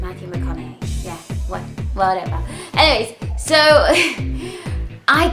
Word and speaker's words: Matthew McConaughey: usual, but I also got a bit of Matthew McConaughey. I think that's how you say his name, Matthew McConaughey.